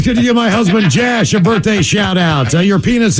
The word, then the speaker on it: Jash: Rhymes with dash or gash. No. I mean, what his parents only did they miswrite out an O? Jash? Is it Jash? Jash. J-A-S-H. Seriously, it's Jash.